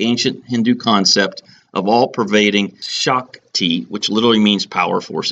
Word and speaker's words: Shakti: god of the universe I'm sorry Shakti pronounce it wrong sh a kti Shakti is the concept and